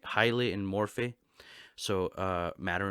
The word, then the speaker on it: hylomorphism: called hylomorphic dualism so hylomorphism highly um is how you say it highly or yeah i think highly in morphe so uh